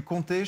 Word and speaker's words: comté: Comté, ça c'est du comté, je pense que vu la gueule du truc, c'est... Comté, like 1, 2, 3... Exactement. OK. Pas écrit pareil, mais ça se prononce de la même manière.